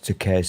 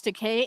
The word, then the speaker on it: Takei: name and george said it rhymes with toupee oh that's seriously funny